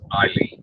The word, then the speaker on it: Aileen: I asked her, I think, and if I recall correctly, she goes, it's Eileen, even though it's spelled Aileen.